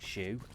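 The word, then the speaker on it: Hsu: report to Colonel and don't ask me why it's pronounced the way that it is but it sounds like Shu I don't know if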